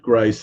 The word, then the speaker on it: Ghrist: Um again, my name is Gryce and it's spelled g h r i s t it's just like Christ only with a g at the beginning and I'm I'm on